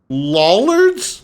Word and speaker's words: Lollard: Lollards? My honor. Yeah, you're going to hell. For honor and glory. To glory. Mine by right. Lollard rhymes with dullard.